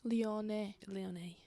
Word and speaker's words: Lyonnais: Anyway, Rain FC have announced that they're in negotiations with Olympic Lyonnais group. Is that how you pronounce it? Yes, Lyonnais.